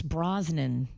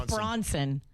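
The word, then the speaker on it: Brosnan: The first one you said Tim Talt, the Daniels one you got wrong and you mispronounced Pierce Brozman. Yeah, you called him Pierce Bronson.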